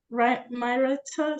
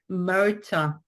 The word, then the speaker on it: Myrta: Myrata, sorry if I butchered that, from Massachusetts. It's okay, I've been called worse. No, how do you pronounce it? It's Myrta. Marta, okay, awesome.